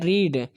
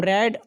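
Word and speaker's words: read: पढ़ने की इंग्लिश होती है रीड, सेकंड फॉर्म रेड और थर्ड फॉर्म रीड। तो सबका स्पेलिंग सेम होता है, रीड रेड रीड, लेकिन दूसरे वाले का प्रोनाउंसिएशन अलग हो जाता है, यानी कि रेड बोलते हैं।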